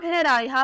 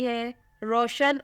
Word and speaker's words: Hoor: नाम है रायहा फातिमा।